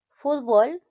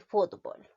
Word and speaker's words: fútbol: es lo recomendable zodiac fútbol y fútbol nosotros pronunciamos fútbol no es cierto pero también puede ser fútbol según el diccionario se aceptan los dos algunos hablantes dicen